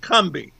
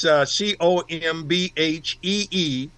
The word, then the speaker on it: Combahee: the river raid, in down south, it's pronounced Combahee. But it's a raid on the Combahee Ferry. Doing it the way the Yankees might have done it, it's Combhee ferry, actually.